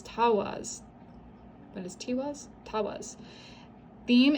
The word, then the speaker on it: Tiwaz: And it says the pronunciation is Tawaz.